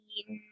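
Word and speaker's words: غين: Ghain. Same. There are three letters involved to pronounce the name of this letter. There are three letters which are those ghain, ya, and noon.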